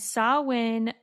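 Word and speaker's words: Samhain: a Celtic festival called Sawin. Sawin is spelled S A M H A I N. And sawin marked the end of the year and the commemoration of the dead.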